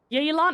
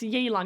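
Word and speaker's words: Yelan: Yalon. It's Yalan. Yeah, pronunciation is difficult.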